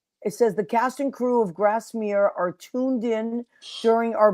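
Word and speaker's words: Grasmere: Well, you were right in the way you pronounced it. It is Grassmir.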